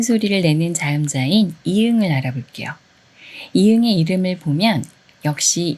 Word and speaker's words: 이응: 그런데 초성 이응은 소리가 없어서 발음 기호로 쓸 수가 없어요. 그리고 받침 이응은 응 소리를 내는데 이 소리를 발음 기호로 나타낼 때는 이응을 써요. 응 소리를 내는 받침은 이렇게 이응 하나밖에 없어요.